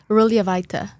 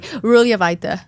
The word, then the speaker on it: Ruljevaite: J is silent. Once you say it once, it's easy. Ruljevaite. Ruljevaite. Yeah, perfect. There you go. Okay. It's like the J doesn't exist.